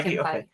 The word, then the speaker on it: Feige: Feige mentioned, is that how you say his name? Feige. Yeah, Feige.